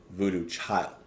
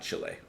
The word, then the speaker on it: Voodoo Child: So I was reading a little bit as we were listening, and I see that it's actually pronounced Voodoo Child, not Chile, or whatever else I said.